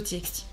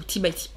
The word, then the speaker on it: TXT: Je pense que j'irais vraiment plus m'intéresser au TXT. Ou T-by-T. Ah, ça dépend de comment vous le dites. Voilà. Vous voyez, je contente tout le monde. Je le prononce des deux manières.